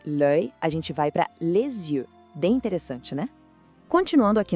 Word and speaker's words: les yeux: A gente fala les yeux. O S da palavra le acaba se juntando com o início da outra palavra, criando esse som de Z.